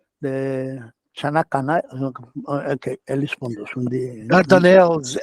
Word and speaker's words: Dardanelles: Dardanelles is how it's said in English. Dardanelles. Okay, that's the Dardanelles. Okay, Dardanelles and in Greek too is the same.